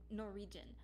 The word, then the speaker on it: Norwegian: the second time nor norwegian um no region okay it sounds like it sounds like there's an r another r sounds like there's two r's but there's a w